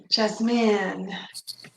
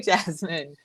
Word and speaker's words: Jasmine: Yasmin, I feel like. Yeah, Yeah. yeah, Yasmin, that's one. Yeah, because some cultures pronounce the J like a Y.